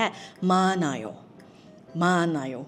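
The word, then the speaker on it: 많아: มา ค่ะ มาน มาน ออก เสียง ว่า มาน เพราะ ว่า ตัว ฮี อึด ไม่ ออก เสียง นะ เลย เป็น แค่ มา มา มี เยอะ มี มาก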